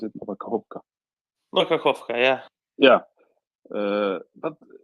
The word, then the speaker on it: Nova Kakhovka: How do you pronounce it? Nova Kakhovka.